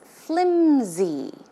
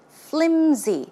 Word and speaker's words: flimsy: see the pronunciation is flimsy flimsy it's not pronounced with an s sound but it's closer to a z z sound flimsy flimsy okay now